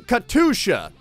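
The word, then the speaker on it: Катюша: I looked up the pronunciation. Of course, you guys gave me a lot of feedback. You were all saying Katusha.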